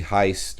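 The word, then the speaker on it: heißt: one is pronounced and the second one is pronounced i heist so heist now the reason i'm putting so much emphasis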